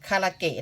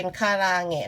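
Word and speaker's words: 唐揚げ: ทอด ญี่ปุ่น นะ คะ หรือ คน ไทย เรียก คาราเกะ นั่น แหละ ค่ะ แต่ ออก เสียง เป็น คาราแหงะ นะ คะ ไก่ ทอด ญี่ปุ่น เห็น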